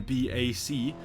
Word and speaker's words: BAC: BAC as the new brand is called is pronounced back and I'm very sorry because the only other time I've seen BAC is enforcer and in forsa there are no